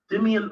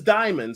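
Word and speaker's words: Dimon: Dimian, okay, now I'm probably butchering his name and I apologize. Dimian or Dimian's comments came on the No, Solo. His name is Diamond.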